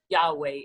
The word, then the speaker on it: Yahweh: am that i am well in hebrew it's yahweh it's it's uh and there's different pronunciations to it you know um some people say just yaw as god but it was just yahweh and